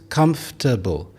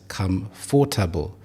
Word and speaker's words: comfortable: There are 3 syllables, comfortable, rather than pronouncing it as comfortable.